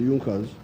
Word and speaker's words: Junker: it had the big farmers known as the junkas it's written in the junkers but it's pronounced as the jungkas the in the German Kingdom of Prussia one